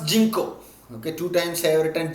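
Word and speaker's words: ginkgo: commonly you can say even spelling g i n k g o you can pronounce jinko okay two times favorite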